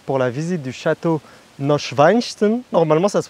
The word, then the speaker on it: Neuschwanstein: on se retrouve pour la visite du château neuschwanstein normalement ça se prononce comme ça il est juste derrière moi